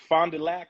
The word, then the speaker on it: Fond du Lac: man so you grew up in Wisconsin it's Fond du Lac did I pronounce that right yeah what was the hoop